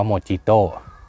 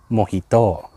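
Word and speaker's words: mojito: เข้า ใจ ปิด ว่า m o j i t o อ่าน ว่า โมจิโต้ แต่ จริง ๆ มัน มวย โต้ ครับ มัน ไม่ ใช่ ภาษา อังกฤษ มัน เป็น ภาษา สเปน แล้ว ก็ การ ออก เสียง ก็ คือ โมฮิโต้ ไม่ ใช่ โมจิโต้ แม้ แต่ ใน ภาษา อังกฤษ เขา ก็ จะ ไม่ พูด ว่า โมจิโต้ กัน ครับ เค้า ใช้ คำ ว่า โมฮิโต้ เลย โอเค ครับ เข้า Storm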